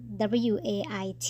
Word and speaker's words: wait: เสียง นะ คะ ก็ ถ้า เรา จะ ออก เสียง คำ ว่า รอ นะ คะ ให้ ออก ยาว นิด นึง นะ คะ w a i t นะ คะ Wait Wait นะ คะ ไม่ ใช่ wit นะ คะ แล้ว คำ